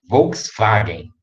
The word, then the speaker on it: Volkswagen: Normalmente o W tem som de V. Aí vocês vão lembrar do V, do W, do Volkswagen, né? Se pronuncia Volkswagen, né?